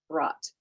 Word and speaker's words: brought: Well, brought has the syllables, doesn't it? Like phonemically or phonologically, we can say brought, one syllable. In addition to that, though, it has b, r, ah, t, 4 phonemes.